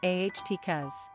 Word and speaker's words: Atticus: Latin number of syllables three ranking popularity 404 pronunciation aht cuz simple meaning man of Attica characteristics of Atticus